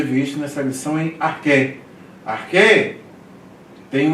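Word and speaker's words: ἀρχῇ: Então ele não é pronunciado. Então por isso que você pronuncia enarché. Aqui como se fosse arquei, mas não é.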